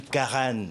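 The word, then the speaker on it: Karana: Eh bien, Maik Sanderdi est une Carane. Alors ça s'écrit carna se prononce Caran hein.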